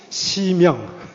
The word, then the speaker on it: 심양: 위에 뭐라고 써져 있죠 양심이라고 읽으시면 안 됩니다 심영 거꾸로 읽었잖아요 양심이 아니고 심영 문광서원에서 발간했다 이렇게 돼